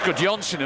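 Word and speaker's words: Gudjohnsen: How do you pronounce that one? That's good Johnson, was it? What have I been told? It's good Johnson.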